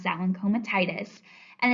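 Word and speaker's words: comitatus: The first is comatitis. So that's how you pronounce that one, comatitis.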